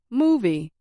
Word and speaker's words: movie: For example, movie. I said moo a little louder and longer than V.